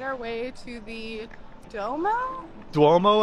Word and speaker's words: Duomo: Duomo, I believe is the pronunciation.